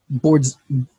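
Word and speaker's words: Boresman: That's almost how I've got it exactly, except that second A is an I in Avidas, and Bor has an E between the R and S. You have to pronounce it without those, though.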